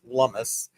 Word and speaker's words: Lummis: I am under the impression that it is pronounced Lummis, but I don't know.